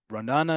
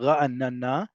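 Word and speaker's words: רעננה: or have visited before, Ra'anana, or Ranana, as some people just call it, but Ra'anana.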